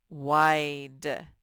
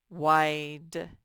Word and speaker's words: wide: in our story and wide wide the e is silent as it makes the vowel say it's long sound and since the vowel is i it says i or it's name i wide all right boys